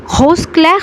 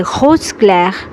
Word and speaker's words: rose clair: rose clair rose clair rose clair rose দর্শক কখনো কখনো কিন্তু আরের উচ্চারণ কখনো ঘয়ের মতো হয়, কখনো আবার হয়ের মতো হয়। এটা আসলে আপনারা মিক্সড করে উচ্চারণ করতে পারেন। কখনো এই আরের উচ্চারণটা ঘ শোনায়, কখনো আবার হও শোনায়, কখনো আবার কখনো খও শোনায়।